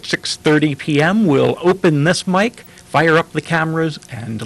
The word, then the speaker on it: mic: series called Open Mic we're spelling it mic we're pronouncing it mic as in microphone my name is Rand